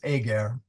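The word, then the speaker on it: ager: uh the the AA or how do you pronounce it Ajer a sorry you're right it's AAR AAR AAR is field sorry about that AAR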